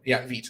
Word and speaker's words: Vite: If you want, what I could do is I can actually spin up a completely fresh application using Vite, Vite, that's the right way to say it.